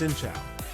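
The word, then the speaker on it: xin chào: start with the basics shincha pronounced shincha means help hello and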